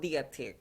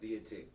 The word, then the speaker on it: Detique: It's called Detique. Detique. So yeah, it sounds like French, but you don't have to be like sounds like French. So like you have to like say it like Detique.